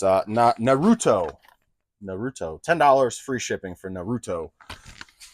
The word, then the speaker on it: Naruto: So the first thing sold was Naturo. I don't know. I forget how you say it. This one. It's Naruto.